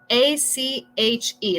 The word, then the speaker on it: ache: A-C-H-E. La pronunciación no es H, sino ache. Si fuera E-I-K, como con los sonidos de español.